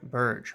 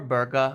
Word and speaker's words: Berge: of player he is now you may say that I'm pronouncing his name incorrectly but I assure you I watched a video of an interview with sander Burge or burga or something like that and um he himself said it switches all the times